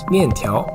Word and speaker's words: 面条: It's pronounced 面条.